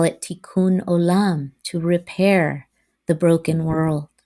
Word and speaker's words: Tikkun Olam: my ancestral tradition of Judaism, we call it Tikkun Olam, to repair the broken world.